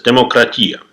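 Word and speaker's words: δημοκρατία: As of today, almost everyone knows that the word democracy came from ancient Greece, where they used to pronounce it as demokratia.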